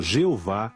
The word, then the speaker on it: Jeová: frequente do nome divino o tetragrama pronunciado Jeová em português e nas escrituras hebraicas